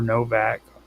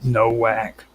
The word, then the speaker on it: Nowak: And I'm going to be talking about Martin Novak, or Novak. It's spelled with a W, which I used to always call him Nowak.